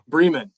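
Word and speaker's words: Bremen: line so that's good is it Brean or Breman Breeman Breeman two for two and I avoided saying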